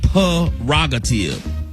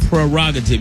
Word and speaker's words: prerogative: you cannot prerogative it's not perogative it's a prerogative you gotta remember what bobby brown taught us that's right my prerogative well he had it wrong okay it's prerogative you gotta put you gotta pronounce that r in there but especially when it's